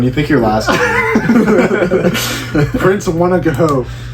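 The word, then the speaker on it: Wanogho: confuses me right here it goes w-a-n-o-h-o H is usually a silence in things just don't put the age pick your name just don't put the H yeah when you think you're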